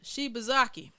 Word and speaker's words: Shibazaki: Yeah, Shibazaki, my boy.